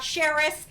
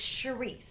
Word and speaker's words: Charisse: It's not Cheris. It's not Sharif. It's not Cherie. It's Charisse.